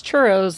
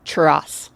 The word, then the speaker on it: churros: churros episode oh churros which they don't pronounce churos it's churas churas which oh my God